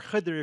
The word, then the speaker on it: Khidr: And the reason I make the distinction is not only to point out that it's important to pronounce it Khizr or Khidr if you like Arabic, but that Khizr is